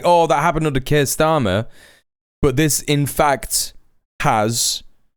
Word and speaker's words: Keir Starmer: Yes, it's happened under the Labour government, not just Keir Starmer. Correct. That's the right way to say it.